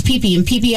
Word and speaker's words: Phi Phi: Islands yeah PP it's it's spelled Phi Phi cool and it's peee and peee Islands remember is where Leonard